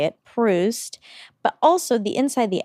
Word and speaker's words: Proust: I looked up how to say it, Proust.